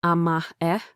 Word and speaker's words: amae: Amae, pronounced "ah-mah-eh", was first described by the Japanese psychiatrist Takeo Doi.